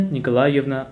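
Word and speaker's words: Николаевна: That middle one is tricky. How you pronounce it? I would say maybe Nikolaevna. No. Nikolaevna. Eva. So it will be Nikolaevna.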